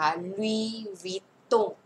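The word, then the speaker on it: Louis Vuitton: นะ คะ อัน นี้ ออก เสียง ว่า ลุย ไม่ ออก เสียง S นะ คะ ลุย วิด วิด ตง นะ คะ อัน นี้ เสียง โง ลุ ว ว ว ตง นะ คะ ลุย วิ ตง นะ คะ ลุว ตง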